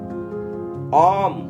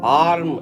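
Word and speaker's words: arm: ஆம், ஆம்னா தெரியும் கை. அதில் அந்த ஆர் வந்து லைட்டாக உச்சரிக்கணும் நீங்கள். ஆர்ம் அப்படின்னு சொல்லக்கூடாது. ஆம், ஆம்னா கை.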